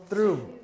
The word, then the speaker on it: through: Through. So you have to have, it's have to sound a little bit like thanks, thanks, and then you have to add the R sound.